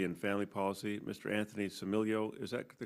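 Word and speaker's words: Stamilio: Anthony Similio, is that the correct pronunciation? Similio.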